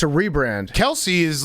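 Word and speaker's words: Kelce: first one is the kells brothers yeah kels kels brothers lc's kels brothers kelsey kells kels kells's apparently everyone has been calling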